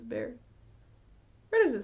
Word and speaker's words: Bexar: It's Bear. You know it's Bear, right? The X is silent.